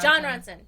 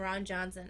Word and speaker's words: Jon Ronson: so this is by Jon Ronson am I saying I always get his name wrong was it yeah it was Jon Ronson I usually call me Ron Johnson I don't know why